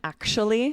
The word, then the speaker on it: actually: And then actually, same thing. Yeah. We actually make that the ch sound in the middle usually. Actually, I haven't actually met her, but I know who she is.